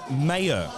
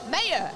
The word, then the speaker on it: Mayo: I've been told I've been pronouncing it wrong. So, coming out for her third and the final deadlift of Apl Nationals, day 4, is Mayo. Mayo. Okay, now we've got it right.